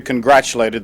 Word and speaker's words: congratulate: Some people sometimes mispronounce it, congratulate, thinking it has something to do with graduation, but it is congratulate. It has a CH sound.